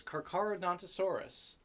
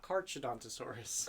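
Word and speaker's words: Carcharodontosaurus: is number 11 Peter it is carcaradontosaurus not karchodontosaurus carcaradontosaurus uh this has been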